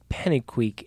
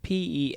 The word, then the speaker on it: Pennycuick: Now, John Pennyquick, it's Pennycuick, hence why we can't pronounce it.